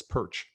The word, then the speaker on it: Perch: how you address me, Perch is pronounced just like this, Perch. My family's been in Canada for 100 years. We lost our ability to pronounce our own name. I've met Ukrainians who tell me we say it wrong, but Perch is fine with me.